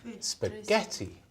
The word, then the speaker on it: spaghetti: Listen to me. Spaghetti. 3. Spaghetti.